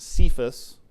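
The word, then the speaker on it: Cephas: Aramaic it is uh the same rock is uh pronounced sephus uh so if you uh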